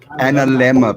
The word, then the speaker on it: analemma: It's analemma, people. Analemma. Now we know. Sounds like a dilemma.